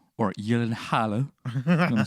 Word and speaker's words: Gyllenhaal: I think Gyllenhaal, or Gyllenhaal, I'm going to say his name correctly, was so perfect He kicked at playing ass in that.